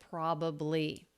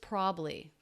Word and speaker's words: probably: just talking about it the first word probably he does a really common reduction where he drops the middle syllable so it's just probably probably probably probably probably